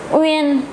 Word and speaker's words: Uyên: Uyên, pronounce it. Uyên, Uyên, Uyên.